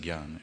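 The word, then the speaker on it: jñāna: Prabhupada pronounces it as Gyan. Yeah. Okay, there's a phrase in Sanskrit, I think it's called assimilation. It's where when two sounds come together, you pronounce them as the in-between the two, something that's in between the two. So from a technical point of view, jnana rolls off the tongue.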